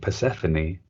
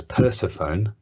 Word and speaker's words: Persephone: We've also got Liam Stew, CRT, who says, I've been pronouncing Persephone as Persephone and found out by watching Mythic Warriors with my bro that it's actually Persephone.